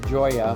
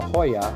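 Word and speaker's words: JOYÀ: One of the biggest reasons to choose Riviera Maya is Cirque du Soleil, the Joya or the Hoya, I should pronounce it.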